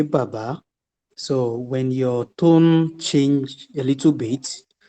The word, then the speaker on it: baba: There is this word, but yeah, I don't know how you pronounce it, but it's B-A-B-A.